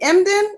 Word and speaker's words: Emdin: Today we have Christopher, is it Emdin? Am I saying it correctly? You got it right, and it Okay, is.